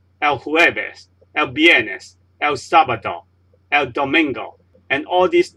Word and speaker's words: sábado: So you say miércoles, not miércoles, miércoles, sábado, and not sábado, because the stress is on this syllable, and the stress is on this syllable for miércoles.